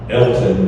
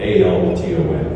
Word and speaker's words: Alton: in the Chicago area, guy's name is Elton, but it's spelled A-L-T-O-N, Alton.